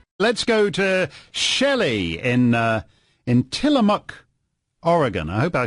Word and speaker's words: Tillamook: Let's go to Shelley in Tillamook, Oregon.